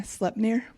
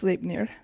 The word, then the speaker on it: Sleipnir: Yeah, I was saying Sleipnir, and it's Sleipnir.